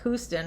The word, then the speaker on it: Houston: Anna Houston it sounds it's written like Houston but Houston is how it's pronounced so she dedicated to